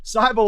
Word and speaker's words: Seibel: Seibel like Bible.